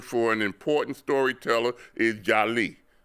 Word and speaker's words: jali: The true West African term for an important storyteller is jali. J A J A L I but it's pronounced Jali.